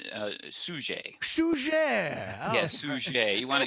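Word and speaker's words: Suger: pronounce this name uh suje yes sushi you wanna you wanna sound more culturally more french i think it's actually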